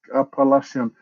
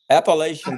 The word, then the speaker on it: Appalachian: Apa Apalak apalashian.